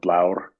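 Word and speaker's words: blár: The modern Scandinavian languages do have a word for blue, and it comes from the Old Norse word blor or blaur, to use Icelandic pronunciation, which the reason people insist that it doesn't mean blue in Old Norse is that it's used for ravens.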